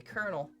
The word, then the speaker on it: Colonel: Colonel. All right. Thank you. It's just like it's not I know it's not spelled how it sounds and it like just messes me up.